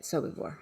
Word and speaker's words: Sobibor: Sobibor.